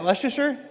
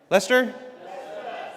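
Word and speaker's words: Leicester: How do you say, is that Leasher? Lester.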